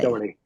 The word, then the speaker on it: Doherty: I'm going to bring up something very poignant I read about you Oh and no, Stan Dougherty, who passed away. Doherty. Yeah, Okay. yeah, Was I pronouncing it wrong?